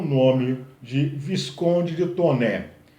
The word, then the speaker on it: Taunay: E aí se destaca o nome de Visconde de Toné. Escreve-se Taunay, mas pronuncia-se Toné, já que o sobrenome é francês. Visconde de Toné escreve Inocência, a história de uma menina órfã de mãe.